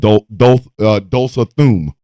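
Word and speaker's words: Tulsa Doom: I am being disrespectful to the legend of Dulsa Thum. His name is pronounced Dulsa Thum.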